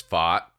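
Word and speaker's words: Pfaadt: Like talk about showing up and like really letting everybody know how to pronounce it because it's FOT and being like, I'm here, I'm the guy.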